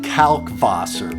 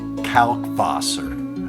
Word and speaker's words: Kalkwasser: going to say kalkwasser say it with the kalkwasser calc foss or with the v calc vosser but i couldn't keep saying that through the whole video frank said it please pronounce the w as a v sound all right frank calc